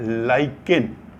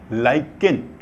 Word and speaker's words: lichen: Litmus क्या होता है कि एक प्लांट होता है LICHEN, इसको प्रोनाउंस करते हैं लाइकेन, LICHEN, लाइकेन।